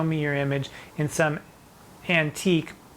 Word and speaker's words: antique: your image in some antique but it's pronounced antic in some antic book